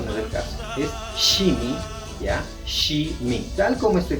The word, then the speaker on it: shimi: ya pero eso no es el caso es shimi ya tal como estoy pronunciando china este Perdón sh I m i